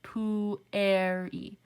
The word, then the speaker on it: pueri: not a diphthong so when we say pueri we are both pronouncing the u and the e separately poo air e so this will not